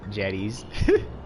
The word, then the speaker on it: Jedi: You should call them Jedi, that's how you pronounce them.